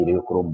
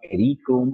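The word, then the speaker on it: Eriochrome: आपको आना चाहिए एरियोक्रोम ब्लैक टी, कुछ बोलते एरियोक्रोम, कुछ बोलते एरीक्रोम ब्लैक टी, लेकिन एरीक्रोम इज नॉट a correct pronunciation right.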